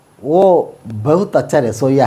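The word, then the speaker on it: वह: ബഹുത് അച്ഛ രസോ ഹെ ഓ ബഹുത് അച്ഛ രസോ ഹെ ഓ ബഹുത് അച്ഛ രസോ ഹെ ഈ വഹ് എന്നുള്ളതിന് ഓ എന്നാട്ടോ ഉച്ചാരണം അപ്പൊ വഹ് ബഹുത് അച്ഛ രസോ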